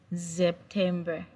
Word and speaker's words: September: The S in German language is pronounced as Z. So in English, it has same spelling. September in English, but in German, it's pronounced as September.